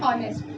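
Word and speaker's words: honest: क्या बोल रहे हैं, ऑनेस्ट। इसमें एच साइलेंट है, हम हॉनेस्ट नहीं बोलते हैं, हम क्या बोलते हैं, ऑनेस्ट।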